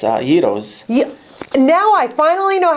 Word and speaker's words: gyros: Everyone says gyros, but if you just skip the G, start with the Y, Y-E-E-R-O-S, it's gyros.